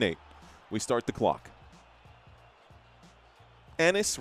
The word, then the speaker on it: Ennis: Enis rhymes with Dennis.